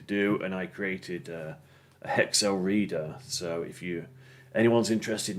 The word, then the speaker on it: HXL: So when I looked at this, I found I thought it was HXL, but it's actually pronounced Hexel.